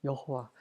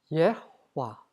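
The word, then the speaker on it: יהוה: 여호와. 발음을 해보면 예호와입니다. 한번 발음해 볼까요? 예호와. 예호와. 예. 우리나라 사람들 여호와라고 하죠. 근데 영어로 야훼라고도 읽고 여호와로도 읽고 그다음에 저호바라고도 읽습니다.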